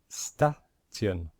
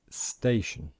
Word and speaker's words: station: not know this IPA perhaps you pronounced this corre incorrectly maybe you would have pronounced it staan or statian which is wrong but if you know IA you will know that the pronunciation is station so very important try